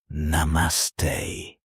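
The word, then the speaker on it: नमस्ते: In Hindi, the most common and respectful way to say hello is Namaste. Pronounced Na. Mas. Te. Say it slowly. Na. Mas. Te.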